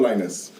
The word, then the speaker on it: Linez: I like to remind people it kind of sounds like the Peanuts character, Linus.